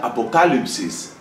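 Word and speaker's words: ἀποκάλυψις: Viene del griego, lengua en la cual se pronuncia apocalipsis, y esto significa revelación, una revelación.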